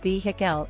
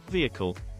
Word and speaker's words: vehicle: his directoral debut five saying vehicle as vehicel instead of viic fix split it into two syllables VI call vehicle grammar mistakes six using